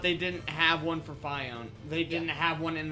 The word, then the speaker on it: Phione: I have no problem with it this thing phione oh yeah that the bad thing is that's its official pronunciation and that pisses me off now yeah